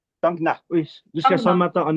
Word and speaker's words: Thangna: arrêté là euh pour aller sur Tangna ou Tania, ça se dit comment ? C'est ça. C'est ça. Euh voilà la prononciation. Tangna.